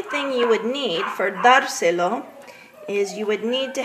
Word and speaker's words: dárselo: the A of dárselo, because that's a palabra esdrújula, and anytime you have the golpe de voz on the first syllable of a three-syllable word, you're going to need a written accent.